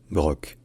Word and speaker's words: broc: brique et de broc là ça se prononce broc il y a vraiment le son que à la fin si en revanche vous